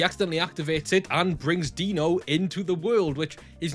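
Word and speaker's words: Deno: And it's spelled D E N O, but like if you know someone called Dean, especially in the UK, you typically call him Dino.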